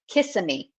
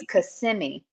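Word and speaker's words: Kissimmee: out of town because they always call it Kissam kiss it me and it's like no it's cimi cimi so yeah so I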